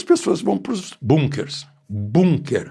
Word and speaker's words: Bunker: Bunker, a palavra é alemã, é bunker, não é bunker, não, como os americanos pronunciam, os ingleses também.